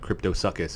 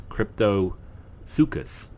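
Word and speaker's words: Cryptosuchus: actually have the and I was pronouncing this wrong I was calling it crypto suckas its crypto Lukas you have the hidden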